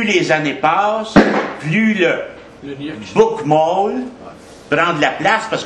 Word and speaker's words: Bokmål: on pourrait dire deux langues, mais eux disent deux variantes d'une même langue de la ville, le Bokmål, qui s'écrit Bokmal, mais qui se prononce Bokmål, et le Nyrs.